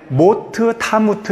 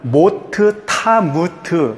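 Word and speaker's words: מות תמות: 반드시 죽으리라 하시느니라가 정확하게 모트 타무트 이렇게 돼 있어요 모트는 무튼데 이게 한글도 이렇게 연결해서 읽으면 발음이 달라지듯이 히브리어도 그런 그렇게 된다고요 그래서 원어를 보면 모터 타무트 이렇게 되어 있어요 그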